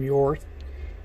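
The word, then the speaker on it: Hjorth: The company is called William Jorth, but it's spelled H-J-O-R-T-H. But the best I can figure, William Jorth is the correct pronunciation.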